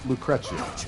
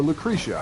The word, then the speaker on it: Lucrecia: is a woman named lucrea or lucrecia however like people pronounce it different ways it's you know it's